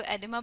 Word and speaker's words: Oedema: इसमें ओ साइलेंट होता है, इसको एडिमा प्रोनाउंस करते हैं।